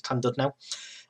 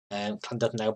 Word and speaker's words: Llandudno: I can never pronounce these Welsh names, but I believe it's Llandudno.